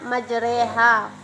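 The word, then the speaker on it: مجراها: Pada lafal majra ha maka cara membacanya majreha.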